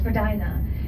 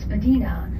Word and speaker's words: Spadina: to pronounce which is for dinner if you're a part of the upper class you would pronounce it slightly differently and then they would pronounce it as Medina and Spadina comes from